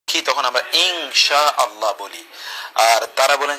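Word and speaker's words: إن شاء الله: এজন্য আমরা বলি যে ইনশাআল্লাহ যদি বলি তাহলে অধিকতর বিশুদ্ধ হয়।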